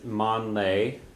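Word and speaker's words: meán lae: First of all, the word for noon is mon lay, means middle of day, mon lay.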